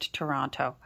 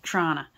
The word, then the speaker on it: Toronto: be from there because you know it's not pronounced to Toronto if you're from there it's pronounced Trona see I love that I don't know